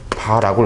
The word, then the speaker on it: var: 그럼 이때 둘 다 단위를 본다면 얘는 그냥 와트를 쓸 거고 얘는 이 단위가 VAR이라는 바라고 읽어주시면 돼요.